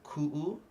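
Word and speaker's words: kuʻu: You're literally putting a break, a ku. You want to attack it. So uh-oh, ku, a ku. Okay, so that's really important. So that pops up in many places. So ku'u, this is where Hawaiian can be a little tongue twister.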